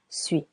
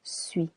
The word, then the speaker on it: suis: Je suis silent s and the phonetic is the letters u. Je suis Tu es Tu es here the letter S is silent.